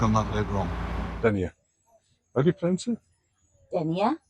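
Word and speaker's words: Dénia: Dier denier. Denier. Like 15 denier stockings. Yes. But not spelled the same.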